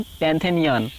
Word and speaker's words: Pantheon: पैंथेनियन spelling है PANT, पैंट, देखिए पैन लिखकर थियान लिख दीजिए, पैन लिखकर थियान, PN पैन THEON, PN पैन THEON, PN पैन THEON, पैंथेनियन।